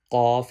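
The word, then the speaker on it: قاف: this letter by pronunciation this first one off has two doors on it this letter read with heavy sound off with two dots read with heavy sound and cuff without dot this letter read with thin sound off heavy sound calf thin sound this letter is off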